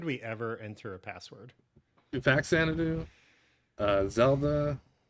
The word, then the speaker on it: Faxanadu: How do you say it? Faxanadu. Fact Xanadu. Yeah. That's the official Best of NES pronunciation.